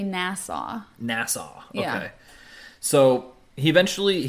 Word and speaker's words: Nassau: then he he and his family moved to nasau um where he experienced like electricity cars and